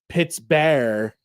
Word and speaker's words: Pittsburgh: As Forbes was a Scotsman, he probably pronounced the name Pitts Bear.